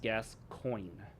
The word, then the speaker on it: Gascoigne: It is literally pronounced Gascoigne. It even says the first syllable sounding like gas and the second syllable sounding like the word coin. I'm pretty shocked. I thought for sure Gascoigne was a mispronunciation.